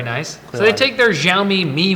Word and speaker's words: Xiaomi: Xiaomi is how you say it.